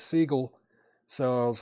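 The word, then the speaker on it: Segall: I used to say Seagal until I saw like an interview with him and he pronounces his own last name as Seagull.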